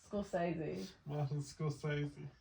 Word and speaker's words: Scorsese: Scorsese.